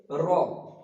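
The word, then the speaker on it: ر: উচ্চারিত হবে এটুক দাল তারপর আছে জাল জাল উচ্চারণ করার সময় আমরা খেয়াল রাখব জালটা হবে একটু তোলা জিবের আগা সামনের দাতের সঙ্গে লাগিয়ে উচ্চারিত হবে জাল জাল তারপরে আসছে র এটা একদম স্পষ্ট বাংলা রয়ের মত র এতো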